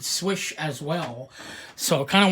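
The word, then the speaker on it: Słysz: pronunciation the correct polish pronunciation is swish and you can actually catch that on a couple of videos on YouTube I believe Michael Janosch Browns it correctly the creator of the Yojimbo - he pronounced it swish as well so kind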